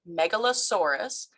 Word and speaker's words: Megalosaurus: And it's pronounced Megalosaurus, and their name comes from a combination of the Greek words mega, which means great, and sauros, meaning lizard.